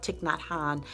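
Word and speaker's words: Thich Nhat Hanh: love touching that hon tick tock hon excuse me i mispronounced that sometimes you guys know I love tick not Han and his sayings his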